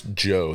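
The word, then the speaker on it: Djo: So it's Joe. The D is silent.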